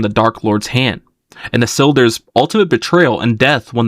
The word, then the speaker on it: Isildur: It's pronounced IH-SIL-DUR or Isildur.